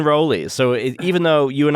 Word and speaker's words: Rowley: family in ipswitch Massachusetts the town next door is Rowley um where we go to get our um our Provisions because there's a Market Basket or as they as they pronounce it that Market Basket um but it's it's always been roly so even though you